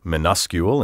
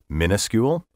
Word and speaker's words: minuscule: minuscule by the way are you wondering why I said minuscule instead of minuscule minuscule and the word